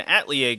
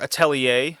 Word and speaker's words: Atelier: And yes, it's based off of Colin Bayan and Atlier game or Atelier, however you want to pronounce it. Tellier probably is uh the more common way to say that, right?